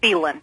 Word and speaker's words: Phelan: Is it Phelan? Yeah, well, actually, it's Phelan.